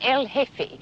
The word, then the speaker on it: El Jefe: G E F E, the J is silent, El Jefe.